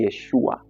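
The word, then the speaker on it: ישוע: Maana yake Yesu jina kamili kwa namna linavyotamkwa kwenye Kiebrania ni Yeshua au Yehoshua.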